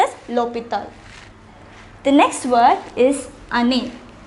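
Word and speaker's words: l'hôpital: with a vowel however it begins with the h which is silent we already learned what is called the h mu since it is pronounced opital we place l a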